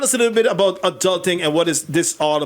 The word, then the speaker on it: Aduhlting: you pronounce it adulting adult just like that okay all right so tell us a little bit about adulting and what is this